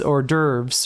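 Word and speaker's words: hors d'oeuvres: It's or derves, right? Um, but uh if you were to say like if you were to follow it up with a a vowel, uh, then you would pronounce the S.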